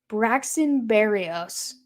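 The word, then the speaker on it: Braxton Berrios: gonna call a fair catch about the seven Braxton Barrios that's how you say his name we're gonna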